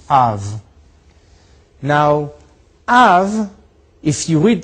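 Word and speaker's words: אב: put those two together, you get a sound, Av, pronounced Av.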